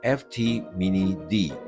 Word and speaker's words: FT Mini D: By the way, I eventually found out that the pronunciation of the brand name should be FT Mini D. kind of like suggesting that these cars are mini drift cars.